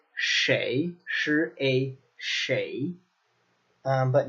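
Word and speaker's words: 谁: in China typically its che sure a che but in some locations particularly on older people it becomes shway shway shway now this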